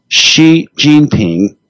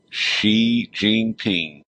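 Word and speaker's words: Xi Jinping: describing the uh president of China and it's pronounce his name one more time for me. Xi Jeanping. She Jean Ping.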